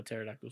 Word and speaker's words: pterodactyl: I fucking hate how pterodactyl spells. Silent letters. Oh, they suck. I would write pterodactyl and the teacher's like, no, that's not how it's done. I'm like, she's like, there's a silent P.